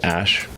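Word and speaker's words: Æ: And then the AE is pronounced Ash.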